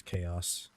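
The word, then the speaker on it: Kaus: Yeah, their thing is spelled with a K, so they're K-A-U-S, Chaos.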